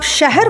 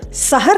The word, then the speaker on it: शहर: अर्थ बदल देता है जब आप शहर को सहर कहेंगे तो उसका मतलब जानते हैं क्या होगा सहर मतलब सवेरा और शहर मतलब तो आप जानते ही है अयश को जब